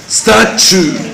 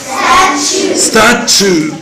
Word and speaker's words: statue: ناخد بالنا من نطق الكلمة دي يا شباب عشان نطقها مختلف عن الكتابة شوية. Statue. Statue.